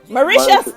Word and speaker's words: Mauritius: now out of marriage is it let me pronounce it correctly it's maritia mauritia mauritius yes we got a few persons and mauritius